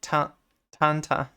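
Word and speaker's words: Tintin: 10 10 a taunt how is it pronounced in French it's like Tanta there's a new 1010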